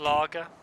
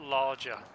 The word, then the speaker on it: lager: Lager. Not larger. Trish, get good. It's spelled like that.